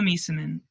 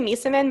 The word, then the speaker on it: Meesseman: Oh man, Emma Meeseman. We pronounce She's Meeseman so good. differently. We do. I think I used to say Misamin, but in all those In all those World games, Cup yeah.